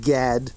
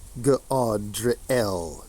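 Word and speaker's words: Gadreel: Godriel, not pronounced Gad, Godriel.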